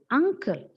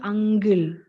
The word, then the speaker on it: uncle: is why it becomes angle is not sound it is just unle sound sound okay look at the transcription the correct one is uncle and the wrong pronunciation is ang common mistake next one it's